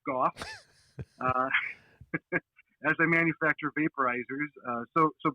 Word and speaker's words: Gough: Also, another way to remember my name is No Cough Gough.